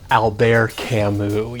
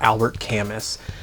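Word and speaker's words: Albert Camus: first it's pronounced Alber Camu you see he's French so the ER also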